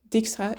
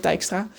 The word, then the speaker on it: Dijkstra: Sure, Dijkstra is apparently how you pronounce that, because I watched a video essay on The Witcher yesterday instead of Dijkstra.